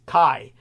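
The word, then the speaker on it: χ: But I found my notes now, and what happened is X is the Greek letter chi, which has a K sound in Greek. Greek, all chi, or chi, is pronounced kai.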